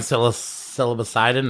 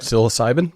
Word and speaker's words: psilocybin: I'm silocidon. Is that how you say it? Psilocybin. Psilocybin.